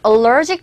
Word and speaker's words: allergic: 우리 식으로는 알레르기이지만 정확한 영어 표현은 allergic.